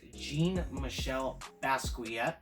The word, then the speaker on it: Jean-Michel Basquiat: I have been informed by the internet that the pronunciation of the name is Jean-Michel Basquiat, and he is a graffiti artist who died in the late 80s.